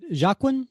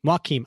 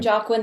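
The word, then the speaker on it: Joaquin: do don't know uh is it jacin am I pronouncing that right I think it's Wen Wakim okay I've been saying jawiin this whole time and I I read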